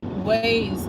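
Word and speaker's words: Waze: So, you had to ways.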